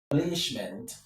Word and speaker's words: establishment: And in this case, the stress is on stab. establishment four So, let me rewrite that.